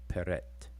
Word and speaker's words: prt: It's transliterated as PRT, PRT, PRT, and we will pronounce all three of these words as peret, peret.